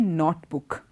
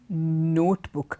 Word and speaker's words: notebook: this word also and we say not book it is not not book it is notebook the whole sound is different okay not the sound